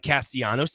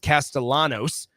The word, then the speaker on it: Castellanos: Well, now uh Thomas Castellanos, uh it looks like Castellianos. It is it is pronounced Castellanos.